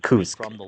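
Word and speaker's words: КУРС: Okay, and as you can see from the Siri leak yeah, it looks like it writes like KYPC, right? But in actually it's actually pronounced as Kursk.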